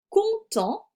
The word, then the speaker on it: content: Ratus est content, le T est muet, du cadeau, je rappelle que EAU se prononce O, qui est dans la caisse.